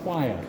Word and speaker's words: choir: cathedral this is what we call choir q-u-i-r really it's spelled q-u-i-r-e High altar obviously Mosaic